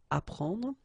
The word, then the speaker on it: apprendre: The first one, ap, so ap, you will get apprendre, apprendre, okay, you don't pronounce the double p, apprendre, so here is what it means, okay, apprendre.